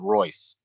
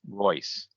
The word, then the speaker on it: Reus: Isn't it Reus? Okay. Correct, but the way to pronounce it is Royce. Royce.